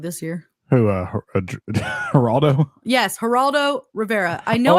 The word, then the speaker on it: Geraldo: one was Gerardo R herard Rivera say his name herard why can't I say his name you say it haraldo thank you haraldo it's not his real